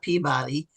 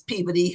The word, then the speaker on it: Peabody: It's not Peabody, it's Peabody Hall.